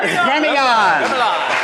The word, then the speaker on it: Gremillion: Gremillion. I even told him how to pronounce it.